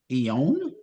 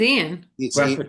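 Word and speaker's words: Ioan: Ion. How do you say his name? I think it's Ian. Ian. Why is there a O in there? It's Scottish.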